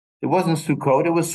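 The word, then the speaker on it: Sukkot: say in modern Hebrew Shabbat but in Yiddish pronunciation or Eastern European Jewish Hebrew it was shabas it wasn't sukot it was sukus it wasn't Sim T it was Sim if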